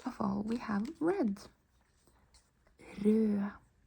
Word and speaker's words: rød: Rød. Rød. You don't pronounce the D.